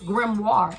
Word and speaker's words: grimoire: you're a magician that's what this grimoire means grimoire that's how you pronounce it thank you Spirit just told me